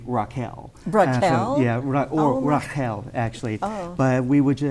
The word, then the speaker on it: Rachel: So I'm just going, okay, so that's the biblical pronunciation then, and then it's not Rachel, it's actually Raquel.